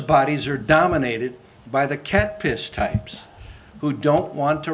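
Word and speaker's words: CATPS: I call it cat piss. That's C-A-T-P-S. How else would you pronounce it?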